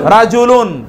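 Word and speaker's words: رِجْل: পুরুষ, একই বানান, শুধুমাত্র কি উচ্চারণ ভিন্ন, রায়ের উপর জবর, রায়ের নিচে জের।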